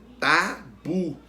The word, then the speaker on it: tabu: Tabu. Qual que a gente pronuncia com mais força? Qual é a sílaba tônica? O bu, a última sílaba. Então, tabu é uma palavra oxítona.